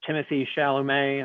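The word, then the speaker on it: Timothée Chalamet: response to it now but seeing you know timothy chalamet i believe is how his name is pronounced no one knows yeah i think he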